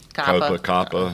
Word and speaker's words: COPPA: It's COPPA, or isn't that how you say it, Kelly? COPPA.